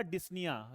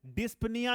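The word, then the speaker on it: dyspnea: क्या बोलते हैं बेटा, डिस्निया। लास्ट क्लास में मैंने आपको बताया था। ठीक है, डिस्पनिया नहीं है बेटा, यहां पर क्या है, पी साइलेंट है, इस चीज को मैंने पहले ही आपको बता रखा है।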